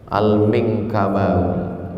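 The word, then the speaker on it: Al-Minangkabawi: Saya buka buku, tengok alif lam mim nun kaf ba alif waw ya, panjang betul. Gimana cara membacanya? Al-Minkabawi. Punya dake rumah awak.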